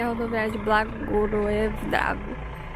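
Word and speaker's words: Blagoevgrad: Como é que se pronuncia o nome? A última palavra que tá Blagoevdrave. Blagoevdrave. Essa aqui é a rodoviária de Blagoevdrave.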